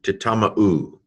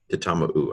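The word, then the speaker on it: תִּטַּמְּאוּ: So tit, tam, ma, u, titama-u. Okay, titama-u. I missaid it the first time because I didn't do the shva right.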